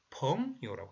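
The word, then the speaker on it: 朋友: 그래서 이 중국말로는 펑요라고 해요. 펑요. 그죠? 붕, 발음 비슷하죠? 그죠? 펑요, 중국말로.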